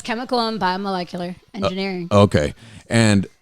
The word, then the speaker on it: biomolecular: say it correctly uh uh yeah chemical environment biomecular engineer did I say that right you butchered it say it again molecular guys chemical